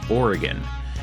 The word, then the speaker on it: Oregon: is pronounced cooch Street and the state is pronounced Oregon and while I'm getting pedantic about pronunciation there